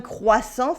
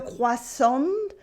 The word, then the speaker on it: croissant: As you can see, at the end of a word, they often come with a silent letter, like a silent T. For nouns, you have something like un croissant, for instance, or even